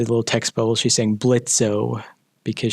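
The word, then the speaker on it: Blitzø: text bubble she sang blitzo because she pronounces the o in his name which i had to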